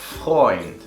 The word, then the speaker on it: Freund: Tenemos EU. Estas 2 vocales van a hacer que la palabra en este punto se pronuncie como hoy. Como por ejemplo, der Freund, el amigo.